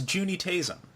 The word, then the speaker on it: Juuni Taisen: Well, that was Juuni Taisen, and this is probably the only time I pronounced it right.